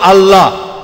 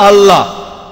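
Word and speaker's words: الله: এটা তাদের ভাষা একইভাবে আমরা জানি যে ঠিকভাবে উচ্চারণ করলে আমরা বলবো আল্লাহ তারা বলে এলা সমস্যা নেই তবে সঠিক উচ্চারণ হলো আল্লাহ পরে যখন রেভেল স্কটফিল্ড বুঝতে পারলেন যে তিনি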